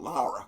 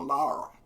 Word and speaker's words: Laura: When I first heard it was called Lara, Grandma Lara. So that's what I figured. That's you know how it's pronounced in Georgia.